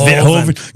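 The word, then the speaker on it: Verhoeven: up here that I'm not good with it's verhoven get it right get it right okay I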